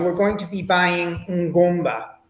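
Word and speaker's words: ng'ombe: We're going to be buying ngomba. How's that pronunciation? Ngomba. Is that pretty good? Ngombe.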